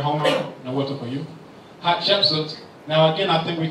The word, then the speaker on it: Hatshepsut: why we don't hear Hatshepsut. When I say her name, people say, did you sneeze?